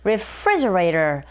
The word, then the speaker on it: refrigerator: refrigerator, 여기서 R 발음으로 시작하는데 네, 이게 L 사운드로 들릴 수 있어요. 리가 아니고 re. 강세는 refree, 이 부분에 있으니까 refrigerator. 그리고 T 사운드 있죠, 맨 뒤에. 강모음과 양모음 사이에 자리 잡고 있습니다. 이런 경우에는 트가 아니라 르에 가깝게 들려서 우리에게 들리는 소리가, 즉 원어민의 입에서 나오는 소리가 refrigerator 이렇게 발음되니까 그대로 흉내내시면 되겠어요.